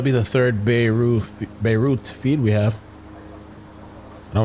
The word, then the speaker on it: Beirut: USS Charlotte They say Beirut. You got to say root.